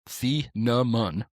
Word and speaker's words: Thieneman: Dylan Feenaman, pronounced fee-na-mon. Isn't it fee-na-mon? Yeah, fee-na-mon.